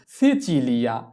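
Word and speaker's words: Sicilia: এরপরে সিসিলি, সিসিলিকে কি বলা হয় সিচিলিয়া, তাহলে কি বসাতে হবে লিয়া, লি বসাতে হবে এল ই, লি, সিচিলিয়া, সিচিলিয়া, এস ই সি চি ই চি, সিচি, এল ই আ, লিয়া, সিচিলিয়া।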